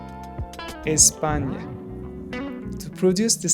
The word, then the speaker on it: Espagne: This is usually pronounced like the ni in onion. Ni, ni. It's like NY blended into one sound. For example, champagne, Espagne.